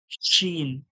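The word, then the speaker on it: شين: সিনটা কেমন কেমন বলছিলাম জীবের মাঝখান এবং ওর সোজাসুজি তালু থেকে হালকা চেপে আওয়াজ বের করতে হবে হাওয়ার মত চেপে বার করতে হবে শিন শিন জীবের মাঝখান ওর সোজাসুজি তালু থেকে সিটির মত হাওয়াটা বার করতে হবে শিন শিন শিন শিন শিন আশা করি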